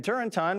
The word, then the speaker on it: Turrentine: Democrat Dan Turrentine, rhymes with wine, agrees.